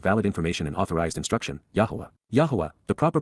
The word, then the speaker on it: Yahowah: born out of valid information and authorized instruction yahwah yah the proper pronunciation of the name of yoah God as